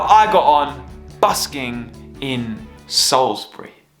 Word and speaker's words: Salisbury: got on busking in Salisbury oh look at that for lighting welcome to Salisbury or Salisbury as it's spelled that's a mighty Cathedral